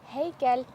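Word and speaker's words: һәйкәл: Первый звук слова произносится без звука х. Х. Х. Давай попробуем. Хейкель.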